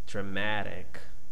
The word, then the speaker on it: dramatic: Dra, weak sound, unstressed. Dra, schwa. Ma, strong sound. Matic. Matic is just one syllable. Okay. Oh, sorry. We have two syllables, 3 syllables. Dra. The second one is ma, and the third one is tic. Dramatic.